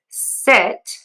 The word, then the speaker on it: sit: tense for sheet versus sit. My mouth is more relaxed for that short I sound.